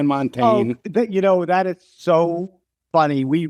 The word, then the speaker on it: Montaigne: radio interviews I do, they all go Montagne. And I Yeah, said, listen, right. I'm from rural Wisconsin. If I say Montagne, it's going to sound really, I'm saying Oh, Montaigne.